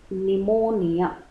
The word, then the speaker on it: pneumonia: is pneumonia the pneumonia don't pronounce the p it is pneumonia pneumonia is also a